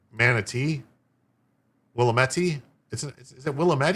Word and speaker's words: Willamette: Willie met? What did Willie meet? The state Republican Party argues that federal law prevails over the Mississippi law. Emphasis on the second syllable. Willamette.